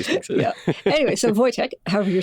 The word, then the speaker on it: Wojtek: I spell it Voytek, but in Polish you would spell it Wojtek, which you'll see sometimes, which Woj is also pronounced Voytek.